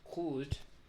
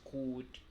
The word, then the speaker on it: could: No se pronuncia la L, no se pronuncia la O.